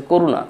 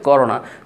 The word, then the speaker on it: করোনা: ওকে, কেউ কেউ শুনছি বলতেছে করুণা, করুণা ভাইরাস, করুণা, হোয়াট ইজ করুণা? করুণা উচ্চারণটা তো দয়া, করুণা এরকম মনে হয়, তো হবে করোনা।